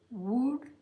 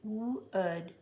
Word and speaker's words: wood: This is often said wood. It's wood. Wood, stood, should, could, would, which is pronounced just like this word, would, would.